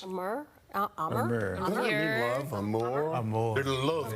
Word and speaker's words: Amur: I was about to say amor, but that's Spanish. Amur?